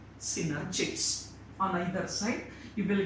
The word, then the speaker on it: synergids: On either side, you will get synergids. Actually, it is not pronounced as a synergids, it is pronounced as a synergids.